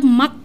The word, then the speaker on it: maag: Ya, jadi kayak asli, mah gitu kan, tulisannya kan MAAG gitu, itu bacanya mah. Kenapa kok G-nya kok dihilangin gitu? Itu soalnya ya memang mereka dengar dari awalnya mah gitu, ada belakangnya G jadi H. Ya jadinya kalau kita bacanya sesuai dengan yang apa yang ada di tulisan ya bacanya tetap mak gitu.